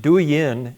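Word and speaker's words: Douyin: It's pronounced du yin and it's the Chinese version of Tik Tok.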